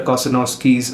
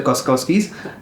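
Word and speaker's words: Kossakovsky: have to mention Victor Kosenowski's uh uh Gunda. So uh I I hope I have pronounced his name correctly. Oh I I haven't. It's Victor Koskowski's Gunda.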